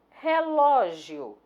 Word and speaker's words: relógio: Relógio é uma paroxítona, né? Por isso que está aqui pintada a taxinha, ó. A sílaba tônica é o Ló, é acentuada graficamente porque termina em ditongo e por isso ela foi circulada.